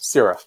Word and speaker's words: SCALA: companies like SCALA, and is it pronounced SCALA? Is that Italian SCALA, FM? Yes, SCALA.